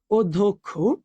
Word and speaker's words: অধ্যক্ষ: দেখ আবার যদি বলি যে অধ্যক্ষ অধক্ষ এটা হচ্ছে কি হচ্ছে ও ধক খ দেখো তুমি যখন ভাইয়া